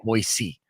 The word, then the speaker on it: Boise: Well, if you had, you would know it's pronounced Boise, not Boise.